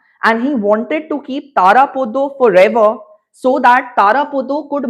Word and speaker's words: Tarapada: See, I come from Bengal, my dear, and it is Tarapodo, it is Onnapurna, and it is Charu Shoshi, and it is Shonamuni. Had I been from Maharashtra or Delhi, maybe I would have pronounced it as Tarapada, Annapurna, Motilal. Okay? We have that Bengali accent and I take pride in speaking in that certain way.